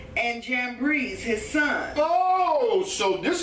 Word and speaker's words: Jambres: Okay, Janus and Jambres, because that J ain't in the Hebrew. But anyway, we just pronounce it in English, Janus and Jambres.